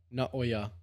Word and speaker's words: Naoya: How do you say his first name? Naoya. Naoya. Not Oya.